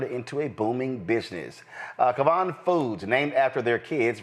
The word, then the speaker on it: Kyvan: Pronounce it, please. It's Kyvan Foods. Kyvan Foods.